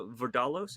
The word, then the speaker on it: Vardalos: Because this is obviously Nia Vardalos, is that how you pronounce it?